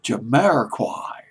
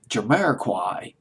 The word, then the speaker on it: Jamiroquai: particularly the case i can't pronounce this group's name just always had problems jumeirah choir jamiroquai Jimmy I just pronounced jumeirah quite alright debuting at number